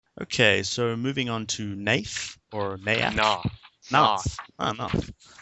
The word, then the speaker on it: Naath: she pronounced it Naath.